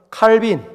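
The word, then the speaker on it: Calvin: 하는 어거스틴 두 번째는 프랑스어는 깔뱅이라고도 얘기하지만 영어로는 칼빈 어거스틴과 칼빈 세 번째는 미국의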